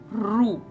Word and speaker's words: ऋ: This akshar, this swar is called as Ru. Okay, it is pronounced as Ru.